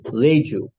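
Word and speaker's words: Reiju: to do attunements only they called them Leu which is starts with an re i j u Leu is pronounced then what he did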